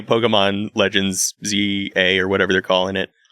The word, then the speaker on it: ZA: I will say Pokemon Legends ZA or whatever they're calling it. That's definitely It's pronounced number Za.